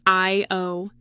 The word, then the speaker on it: ÄIO: And get this, the company's name, pronounced I-O, references the Estonian god of dreams.